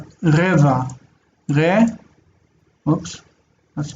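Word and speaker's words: רבע: If it were Arabic, we would hear it, but in Hebrew it's dropped. So it's reva.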